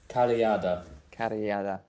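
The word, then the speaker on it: carrillada: How would you pronounce that again, Jack? Carillada.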